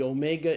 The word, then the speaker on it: omega: And so the omega is pronounced as a long O sound as in the English word tone.